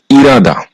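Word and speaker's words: 일하다: পড়তে হবে যার কারণে এই ইলহাদা এই শব্দটার সঠিক উচ্চারণ হবে ইরাদা সাত নাম্বার রুলস বিউব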